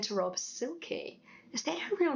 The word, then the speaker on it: Silke: But, the way Germans pronounce it is more like Silke, sort of like with a Z rather than an S. I remember saying to Rob, "Silke, is that a real name?"